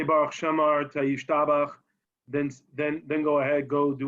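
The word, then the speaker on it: ישתבח: Which, by the way, the correct way to pronounce it is Yishtabach. Yeah, not Yishtabach.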